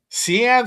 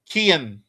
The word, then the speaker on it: Kian: Our guy, Cian Sloan, Kian. I've been saying his name wrong the whole time.